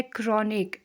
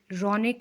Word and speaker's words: Kronig: Pronunciation इस word का है क्रॉनिक, रॉनिक नहीं, ठीक है।